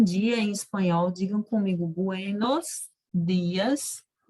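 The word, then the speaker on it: buenos días: digam comigo Buenos dias essa letra de na língua espanhola gente ela nunca pode ser pronunciada com esses caras por exemplo dia buenos dias não né sempre bom e nos dias o bebê com a língua na ponta né na conta da boca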